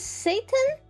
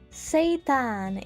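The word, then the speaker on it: seitan: This is Satan. This is Satan. How the heck do you make this thing? What is in What is Satan? Satan it's pronounced.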